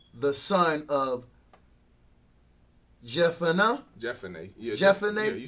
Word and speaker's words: Jephunneh: Yeah, Jephunneh.